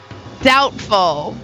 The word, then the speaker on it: doubtful: Can you name the silent letter? Debut. B. T. T. Galvin. Doubtful.